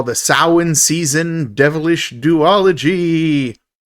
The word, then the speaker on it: Samhain: Samhain is how you pronounce it, Shane.